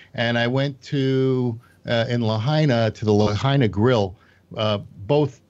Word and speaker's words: Lahaina: Lahaina rhymes with vagina.